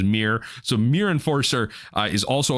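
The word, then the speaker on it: Myr: artifacts as well um I keep saying mer enforcer but apparently the pronunciation is mirr so mirr enforcer is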